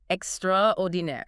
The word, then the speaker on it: extraordinaire: It's borrowed from French. Pronounced extraordininaire.